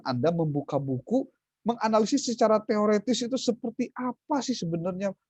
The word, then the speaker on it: teoretis: dan pengucapan yang benar bukan teoritis, tapi teoretis. Karena berasal dari kata bahasa Perancis.